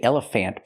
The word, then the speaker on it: elephant: pronunciation we don't say elephant planter it's elephant elephant the last syllable is not stressed we do not say